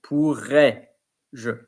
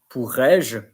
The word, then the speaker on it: pourrais-je: The AIS, the ES is not pronounced. So, pourrais-je. Pourrais-je.